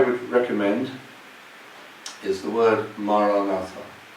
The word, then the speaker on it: Maranatha: So we say it like this, 4 syllables: Ma, Ra, Na, Tha.